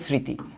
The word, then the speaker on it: স্মৃতি: Similarly এই স্মৃতির বেলায়ও এই যে স্মৃতি। দেখো ম ফলা যখন আদিতে থাকে তখন অনুচ্চারিত থাকে।